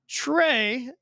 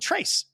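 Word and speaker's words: Tre: But how many times the mismounts pronunciation and they'll say hyperclean trace. Yeah, probably one of the biggest mispronounced words in our lineup for sure. And funny, because we go, Yeah. how does anybody ever think tray goes trace?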